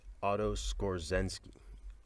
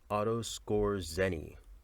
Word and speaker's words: Otto Skorzeny: I hate to have said yeah I'm gonna pronounce it that way the man's name is Otto Skorzeny Otto Skorzeny and he was a high-ranking warm-up officer one